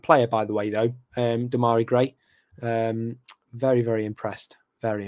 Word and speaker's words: Damari: I pronounced Damari Gray's name wrong on TalkSport. I said Demariah.